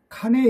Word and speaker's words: 카녜: 루드 서 패션 디자이너로 이름의 정확한 발음 기온은 칸 위에 인데 미국 힙합계 에선 보통 단순히 에 라고 푸름 일이 많죠 그리고 2018년 9월 30일